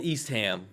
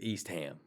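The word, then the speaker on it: Eastham: Um I can tell you that the locals pronounce it East Ham. East Ham.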